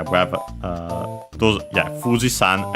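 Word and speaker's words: 富士山: So yeah, uh uh Mount Fuji uh uh the accent is on the uh uh on the FU. Uh and yeah, so Fisan is accented on the FU.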